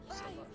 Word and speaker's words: Mozilla: The name that you just said, it's like Mozilla, Mozilla or something. Mozilla. Why, is that not the way you're supposed to pronounce it? It's Mozilla. Huh? It's Mozilla.